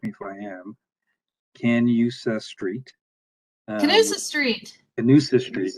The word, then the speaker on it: Canusa: I may be mispronouncing it, so Scotty will correct me if I am. Canusa Street.